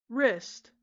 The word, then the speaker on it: wrist: Then we have the neglected W. Poor creature. Wrist. No. W-rist.